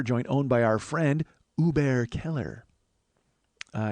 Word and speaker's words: Hubert Keller: owned by our friend Uber Keller uh you don't pronounce the h friends it's not Hubert Keller back off it's Uber Keller and I've actually watched